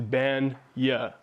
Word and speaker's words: Bagnah: So the right way to say it is Bagnah. So B-A-N and then Y-A-H.